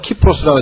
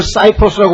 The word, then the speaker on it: 키프로스: 키프로스라고 하죠. 키프로스. 그런데 이걸 사이프로스라고 번역하거든요. 왜냐면 cy로 되기 때문에 영어식으로 읽으면 이게 사이프로스가 되고 그래서 영어는 C라고 해서